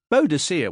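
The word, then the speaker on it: Boadicea: Bow as in bow peep, D as in the letter D, C as in the North Sea, and uh as in uh he was trotting something nasty.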